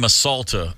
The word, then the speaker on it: Masalta: The name Masalta, oddly enough, perfect rhyme with assaulta.